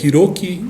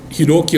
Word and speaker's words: Hiroki: E às vezes Hiroki é um nome difícil de pronunciar, pois é feito com H, I, né? Então muita gente lê I. O H na língua japonesa tem um som de R, né?